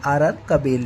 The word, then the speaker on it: RR Kabel: का रिजल्ट आया है आरआर कबेल लिमिटेड ठीक है तो बेसिकली आरआर कबेल है यह मतलब ऐसे प्रोनाउंसिएशन में आरआर केबल आता है तो ईजी के लिए